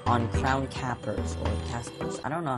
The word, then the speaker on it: Capers: Actually, it's definitely not Caspers, which I used to pronounce it like that, and I don't know where I got the extra S from, or whatever.